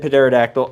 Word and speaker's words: pterodactyl: Yeah, I know I said pterodactyl. I don't care. I know the P is silent.